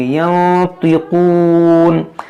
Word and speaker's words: ينطقون: یہاں پر دیکھیں ین نون ساکن کے وقت یہاں پر اخفا کریں گے اور اس طا کو موٹا پڑھیں گے. ينطقون.